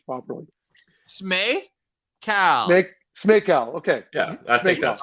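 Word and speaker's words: Smejkal: I can't say his name, and I take pride in pronouncing names properly. Smay? Smakel.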